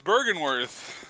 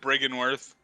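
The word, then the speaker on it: Byrgenwerth: You almost said it right. It's Bergenworth. That's what I said. Oh, it's not like I said Briggenworth. Bergenworth. No, I said Bergenworth. Oh, dang.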